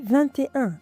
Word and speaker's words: vingt-et-un: "et" like in "vingt-et-un" that’s why we say vingt-et-un did you hear that I didn’t say vingt et un I made a connection we talked about that